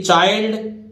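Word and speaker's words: child: और ऐसे आई एल डी को पढ़ेंगे आइल्ड, ठीक है। पहले वाले अक्षर में आ की मात्रा लगाओ, फिर इल्ड लगा दीजिए, ठीक है। इसी तरह देखिए चाइल्ड और आई एन डी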